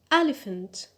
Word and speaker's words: elephant: Elephant. Elephant. Good. The stress is on the first syllable, on e.